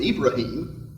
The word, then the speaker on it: Ibrahim: person is named abraham they pronounce it a little bit differently they pronounce it ibrahim but it's the same